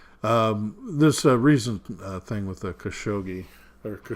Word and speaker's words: Khashoggi: recent thing with the khashoggi dr. Shoji actually hot solji it should be pronounced there there's a few